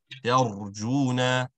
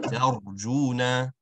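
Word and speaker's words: ترجون: of said the pirate, you want to ensure that the letter ra in this instance is an awesome sound. So to achieve that, you want to curve the sides of your tongue towards the roof of your mouth and drop your jaw ra.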